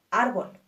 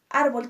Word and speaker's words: árbol: sílaba es tónica ejemplo árbol árbol tiene dos sílabas ar b y nuestra sílaba tónica es ar por lo tanto la consideramos una palabra grave arbol dos cuando terminan